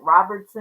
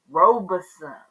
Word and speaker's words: Robeson: some ground in Rob Robison County I don't know why I find it so hard to say that word I want to make it Robertson or Robinson but it's Robison honey I just like to